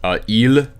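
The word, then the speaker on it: ils: things like that Elin L and that's how it's pronounced you don't say the S on the end okay even L means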